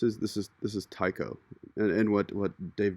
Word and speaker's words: Tycho: he'd said that that's a lot of people like to call it Tico is the possibly the more correct pronunciation which I don't like so I disagree with that I'm gonna go with Tyco but um enough for